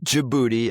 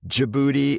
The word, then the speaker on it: Djibouti: on the border of Djibouti. I guess the G is silent. Yeah, the D is silent. I guess Djibouti and Eria are the two countries there in northeastern Africa.